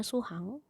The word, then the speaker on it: 수학: Walaupun tulisnya suhak, ini dibacanya suhang.